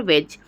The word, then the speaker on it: wedge: जाएगी फ्यूचर में कि जब भी जी के बाद या जी के पहले डी आता है तो वहाँ पे डी साइलेंट हो जाता है।